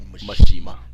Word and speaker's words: Mishima: So the last time we see a Mishima in the Tekken game. You can't say it like that. You have to say Mishima.